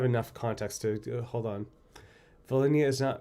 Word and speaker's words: Volhynia: Volhynia is pronounced without an H. Volhynia?